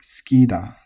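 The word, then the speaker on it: 好きだ: the language, remember to keep this accent on the ki, skida, skina, right?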